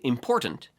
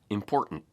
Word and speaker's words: important: And important, with a schwa or an in the final syllable, shifts to important.